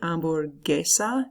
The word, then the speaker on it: hamburguesa: Hamburguesa. Do you hear how that G-U-E-S makes the hard G sound?